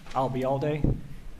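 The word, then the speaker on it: Albayalde: that what was that if you uh remember the phrase I'll be here all day and drop it here I'll be all day you got it and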